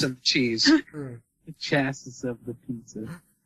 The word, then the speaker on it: chassis: The chassis of the pizza. I think it's chassis. It's chassis. Chassis? Yes. That's how it's pronounced. It's kind of like Cassie, but with a ch.